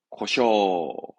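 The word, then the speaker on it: 故障: 발음은 고쇼, 고쇼.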